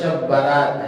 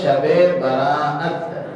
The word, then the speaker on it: شب براءت: وہ شب برات ہے، حالانکہ یہ تلفظ غلط ہے۔ اس میں دو لفظ ہیں، ایک ہے شب اور ایک ہے براءت، حمزہ ہے بیچ میں، لیکن بولتے بولتے لوگوں کی زبانوں پر غلط تلفظ آ گیا کہ یہ شب برات ہے۔ شب برات نے اس کا نام ہے شب براءت۔ شب کا معنی فارسی